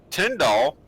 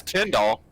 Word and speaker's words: Tyndall: robertson darnell meredith cowboy tyndall we've been saying it wrong the whole time i owe him an apology it's ten doll i heard that so